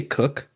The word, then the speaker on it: Coke: By the way, before I move any further, so I say I say Edward Coke. Did you say cook? Yes. Is that is that the right way to say it? Yes.